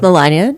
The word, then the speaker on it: Melania: first name right hi my name is Melania and rhymes with lasagna guys well remember that